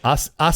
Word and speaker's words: Aasimar: Is that actually how you pronounce it? I never knew. Yes, Aasimar.